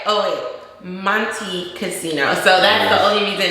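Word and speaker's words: Montecasino: We did find one at Monte Carlo Casino. Yeah. I forgot the name of it. But anyway. Monte Casino.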